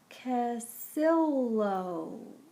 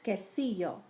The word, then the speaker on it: quesillo: her on the wall a sign read casill casillo i said sounding out the word flora and fabiola nodded approvingly it's pronounced quesillo said fabiola but you are learning very fast